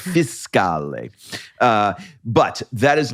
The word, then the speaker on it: fiscale: And he's like, it's not a fish. It is not a coda fiscale. It's fiscale.